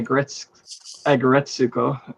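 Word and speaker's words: Aggretsuko: And that's how I pronounce it anyway, Agretsuko.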